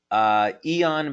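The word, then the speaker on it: Aeon: Eon, by the way, is spelled A-E-O-N, and yes, that's a patch that you can find on our website.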